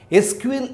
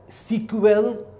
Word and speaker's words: SQL: the respective other details SQL is an abbreviation for structured query language and pronounced either as sequel or as separate letters like SQL so we can also pronounce it at sequel all we can pronounce it as SQL having the full form